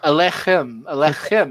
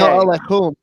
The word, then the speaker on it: Aleichem: Aleichem. Alechem. It's a hard No, K. Aleichem.